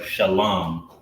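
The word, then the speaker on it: שלום: Shalom. Shah, this is how you spell it in the Hebrew. Shah, La, and Ma. Shalom, meaning peace, right?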